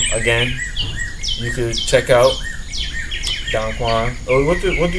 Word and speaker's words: Don Quan: My name is still pronounced Don Kuan. My name is still pronounced Don Quan. It's Don Quan. It spelled exactly the way it spelled.